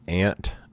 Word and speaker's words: aunt: And yes, I do pronounce aunt, a.u.n.t., I pronounce it aunt, not ant.